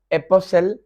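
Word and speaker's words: apostle: वो इंग्लिश के अल्फाज जिनमें लेटर टी साइलेंट है, जैसे ये वर्ड है एपोसल, टी साइलेंट है।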